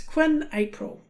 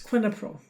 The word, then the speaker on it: quinapril: And the last one, you could look at and think, oh, that's easy to pronounce quinapril, but it's quinapril.